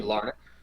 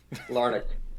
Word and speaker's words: Larnach: game again of me not knowing how to pronounce these guys' names. That would be Larnick. Yep. Is it Larnach or Larnach? Neither of those. I don't see. This is why I don't play this game. Larnick.